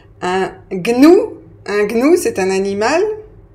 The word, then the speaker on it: gnou: oublié diagnostic diagnosticque voilà donc ces mots-là se prononcent gne donc mémorisz les bien